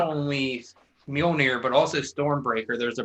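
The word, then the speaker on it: Mjölnir: Thor's hammer, whose name I can never actually pronounce correctly, so I don't try. Mjolnir. Whatever, you both got it. That comes to his hand, which means he is worthy to wield the hammer Mjolnir.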